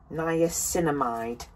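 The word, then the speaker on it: niacinamide: my haul with this now let me pronounce it correctly Nia camide because I believe I've done a video on Nia cide products and I was pronouncing it wrong previously um I decided to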